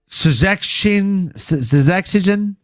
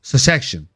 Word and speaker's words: Szczecin: He's fighting out of Szczecin.